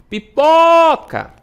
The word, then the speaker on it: pipoca: Pipoca. O pó demora mais.